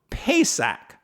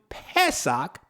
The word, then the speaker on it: pesach: and if necessary rescuing them from predators so pesach p-a-s-a-c-h that root word conveys that root word to pessoc p-e-s-a-c-h it conveys this sense of yah protecting